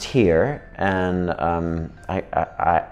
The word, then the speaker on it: hir: the the 9s one because it's pronounced here and um I I